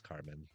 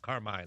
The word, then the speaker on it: Carmine: Carmen, yeah, it is Carmen, not Carmine. I know literally that's how you kind of taught to pronunciate things, but it's out. You got the E is silent, just like it would be for like Jasmine.